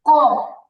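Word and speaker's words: قاف: তালুর সাথে লাগাতে হবে আর এই কফ উচ্চারণের ক্ষেত্রে আমাদের আমাদের জিহবার ভিতরে আরেকটা ছোট জিহবা থাকে জিহবাটাতে হালকা ধাক্কা লাগবে তো দেখি আমরা একটু খেয়াল করি জিহবার গোড়া তারপরে তাল শুন লাগবে কফ ক কফ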